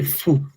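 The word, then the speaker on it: ふ: this will be fu, not who.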